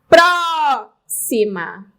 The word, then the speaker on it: próxima: ma 1 2 3 próxima sílaba tônica anti penúltima Olha eu tenho uma